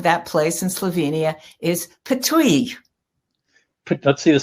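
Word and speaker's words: Ptuj: i have to tell you that how you pronounce the name of that place in slovenia is patui let's see the spelling again i just looked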